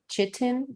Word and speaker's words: chitin: If you see anything in your food called sustainable, it could have bugs in it, or the word chitin, I think it's pronounced, which is a chemical that is toxic to humans, comes from bugs.